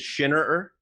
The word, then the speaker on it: Shinner: quick quick quick correction so my last name is sorry my last name is shinner so my my sister couldn't pronounce it correctly until she was 15.